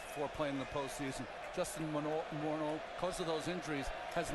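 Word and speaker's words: Morneau: balls to strikes to Moro that's the way he prefers to hear his name pronounced for years and years we said Justin morau morno remember he was he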